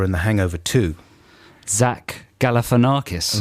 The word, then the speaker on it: Galifianakis: of some commonly mispronounced words here he is pronouncing zack uh galifianakis for you zach galifianakis yeah all right zach galifianakis yeah okay exactly